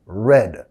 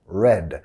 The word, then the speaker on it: read: En pasado, red. La misma pronunciación del color rojo, red.